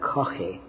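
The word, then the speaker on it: Caughey: Then it broke out in England under an Irish-American called James Coffey. We would pronounce that Coffey, C-A-U-G-H-E-Y.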